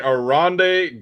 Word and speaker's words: Oronde: Oronde Gadsden, yeah.